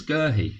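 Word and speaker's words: Guéhi: Long ball, but Gerhi goes back to the goalkeeper. If you've noticed, I'm saying Gerhi's name different. I was saying Guehi before. But I've heard more people saying Gerhi.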